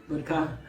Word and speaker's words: Butker: football player, Harrison, I don't know how to pronounce his last name, Butker, Harrison, how do you say it? Yeah. Butker.